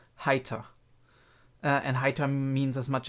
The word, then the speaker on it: Heiter: I think a lot of native English speakers make the mistake that they see the E in Heiter and they say hater, because that's the way you pronounce the E in English, but in German the E is actually E, right? And the E is, in combination with the I, is spoken Heiter.